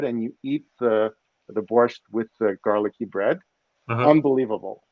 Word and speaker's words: borscht: grew up on this stuff it's called it's pronounced borscht and there's there's two different ones so there's